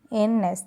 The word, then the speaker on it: hymns: ഹിംസ്, HYMNS. N is silent here.